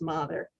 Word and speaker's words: Mather: many times in essex it's not mather it's mother so there are different ways